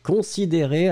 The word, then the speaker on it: considéré: Donc pour moi, la prononciation, c'est considéré. Le « e » du « d » ou le « e » du « ré », c'est le même.